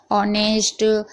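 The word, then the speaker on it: honest: अगर एच के बाद कोई भी वोवेल्स हो यानी मात्रा हो तो एच साइलेंट रहता है। यानी कि एच है। उसके बाद कोई भी मात्रा है जैसे कि ए, आई, ओ, यू तो एच साइलेंट रहेगा। यहां पर आप पढ़ लीजिए ऑनर, ऑनेस्ट, हंबल।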